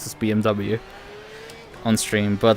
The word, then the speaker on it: BMW: usually just pronounce this BMW on stream but like obviously in German you would pronounce as BMV BM I don't